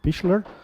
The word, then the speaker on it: Pichler: For those who don't know, Roman Pichler, I've just learned today how to pronounce his name, Pichler.